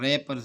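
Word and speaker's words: wrappers: इस तरह रैपर्स में डब्ल्यू साइलेंट है।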